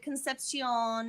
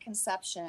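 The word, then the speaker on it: Concepción: is how some conception it's like concepcion or something like that your midwest white man spin on that they don't pronounce it conception okay is there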